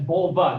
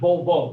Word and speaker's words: vulva: Vulva Pudendum. That's vulva, not volvo. Volvo is a car.